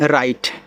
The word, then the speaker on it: right: RIGHT राइट, राइट का अर्थ होता है सही। अब देखो यहाँ IGHT को आइट पढ़ा जाता है, क्या पढ़ते हैं, आइट, तो R लग गया तो आपका हो जाएगा राइट, और राइट का मतलब सही या फिर दायां।